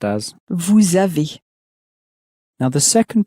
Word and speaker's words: vous: for pronunciation is that, in French, typically, the consonant at the end of a word won't be pronounced. And so the word for you in French is Vous, which is spelt V-O-U-S, and the S is not normally pronounced.